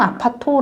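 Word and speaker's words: アパート: 예 1동 맨션 1동 아파토 라고 부르는데 이제 여기서 조금 헷갈리는게 우리나라의 아파트먼트 그러니까 아파트를 얘기했는데 일본에도 아파토 아는 명칭이 있어요네 귀엽네요 거기도 아파트먼트를 이제 일본식 발음으로 아파토 그래고 한 건데 그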